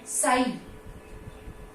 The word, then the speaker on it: psi: So this is called as, right, psi. We pronounce it as psi.